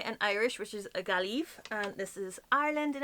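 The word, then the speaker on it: Gaillimh: All I know is how to pronounce this and this. This is Galway in Irish, which is a Gaelive, and this is Ireland in Irish, which is Era.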